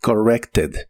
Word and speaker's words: corrected: En el pasado es corrected. Es un verbo regular y en el pasado termina con ed. Aquí sí se pronuncia esa ed, aunque la e es suave. Suena como corrected. Corrected.